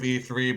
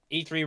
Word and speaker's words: E3: the Electronic Entertainment Expo, which apparently was supposed to be pronounced as E cubed. Ha. Yeah, I I'm guess- glad that didn't happen. Yeah, that I'm glad that didn't catch on. That's weird. E3 rolls off the tongue better.